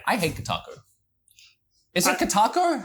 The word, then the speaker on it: Kotaku: Is it Kotaku? How am I ever saying it right? Kotaku, yeah. Kotaki?